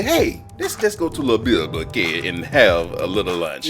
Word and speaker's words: Le Bilboquet: Did I pronounce it right? Le Bilboquet? Yeah, they say Le Bilboquet.